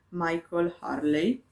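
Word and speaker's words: Michael Hurley: della quercia di andrew ma il col harley dovrebbe essere la pronuncia corretta questo libro che ho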